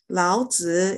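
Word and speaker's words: 老子: is the third information keep in mind it's a third intonation uh sister iris can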